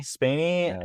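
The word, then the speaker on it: Spaeny: Kaylee Kaylee Spanner. Is that how you say her name? Spainy.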